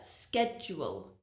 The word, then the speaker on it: schedule: people hate schedule schedule the spelling of this word really does not help you with the pronunciation but listen to me schedule there's a SK SK schedule schedule now you will hear some people say schedule so instead of a SK they say sh both pronunciations are fine